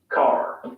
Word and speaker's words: car: Notice that the final R sound is not pronounced in British English. Father ends in a simple schwa vowel, like father. And in car, the vowel sound is lengthened in place of the R sound.